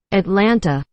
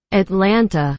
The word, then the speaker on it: Atlanta: Atlanta, there are the T's here, we do not pronounce them.